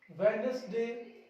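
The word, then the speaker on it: Wednesday: Next one इज, इसमें देखिए star लगा के कुछ शब्द लिखे मैंने, यहां पे डी साइलेंट होगा। हैंकरचीफ, हैंडसम, सैंडविच, वेडनेसडे, ये शब्द आपको भी क्या करना है, साइलेंट करना है।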